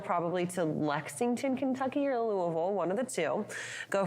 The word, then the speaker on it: Louisville: So real quick, how do you pronounce that L word city in Kentucky? Louisville. Okay, I wasn't sure. I just want to make sure. I always hear different things. So. Louisvle.